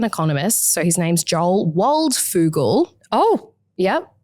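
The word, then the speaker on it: Waldfogel: So, his name's Joel Waldfugal. Oh, yep. I wanted to call him Joel Wald Frugal, but Oh, that's not how you say it.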